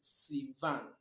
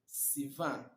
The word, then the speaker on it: Sivan: month three or the third month which is Sivan Sivan it corresponds to June Sivan corresponds to June